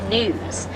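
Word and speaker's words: gnus: They'll migrate up to 1.5 million of their closest friends, and wildebeest are also often referred to as news. It's spelled G-N-U. It's because they make a newing noise, so that's pretty cool.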